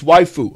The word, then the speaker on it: waifu: Waifu, is that how you say it? Oh, it's waifu.